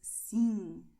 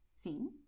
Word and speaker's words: sim: So pay attention because sim, não, they have nasal sounds.